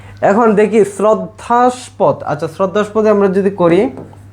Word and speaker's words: শ্রদ্ধাস্পদ: এই যে হচ্ছে তোমার শ্রদ্ধাস্পদ সঠিক উচ্চারণ হইছে শ্রদ্ধাস্পদ এই যে শ্রদ্ধাস্স্পদ ঠিক আছে শ্রদ্ধাস্পদ